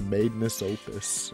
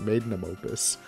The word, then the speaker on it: magnum opus: like the masterpiece, the magnus opus. Is that how you say it? Magnum opus.